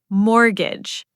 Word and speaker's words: mortgage: The T is silent, Mike. It's mortgage. You said every single letter. I said every single letter, didn't I? You did. Mortgage. Silent T.